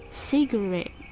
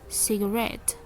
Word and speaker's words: cigarette: And in the word cigarette, in British English we pronounce it cigarette, and in American is cigarette.